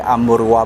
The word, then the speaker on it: Amurva: Wihara Hok Tek Cheng Sin ini adalah disebut di bahasa Sanskertanya sebagai Amurwa Bumi. Amurwa ya bacanya ya.